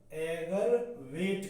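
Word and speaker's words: aggravate: एग्रीवेट होता है AGRAVATE, क्या इसका प्रोनाउंसिएशन है, एगर, एगरवेट, एगरवेट कहते हैं, यानी इसका प्रोनाउंसिएशन है एगरवेट।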